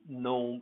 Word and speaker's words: gnome: so on okay uh it's also silent when it's followed by an n as in gnome and no these two